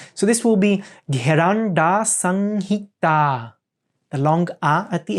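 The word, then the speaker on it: Gheranda Samhita: It means bindu, so it's an M, which is a nasalization of the sound. And then we have a long A at the end. So this will be Gheranda Sanghita, the long A at the end.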